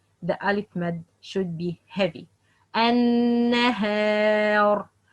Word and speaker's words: النهار: النهار النهار, not النهار. That's wrong. النهار, that's wrong. But the right, النهار.